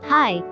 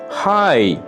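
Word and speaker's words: high: হাই, হাই, উচ্চ, উন্নত। হাই, উচ্চ, উন্নত। এখানে জি এইচ দুটি লেটারই অনুচ্চারিত থেকে যাচ্ছে।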